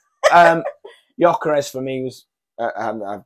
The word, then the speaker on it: Gyökeres: They obviously brought Gyökeres on quite early on with the injury. You know how to pronounce that now. Gyökeres, yeah. It's not Gyökeres.